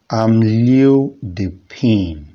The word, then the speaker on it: amlodipine: i'm loading pain pronounced as am leo dipin hamlet pain leo the